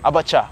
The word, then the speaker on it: abacha: Abacha. Pronunciation, did I get it right?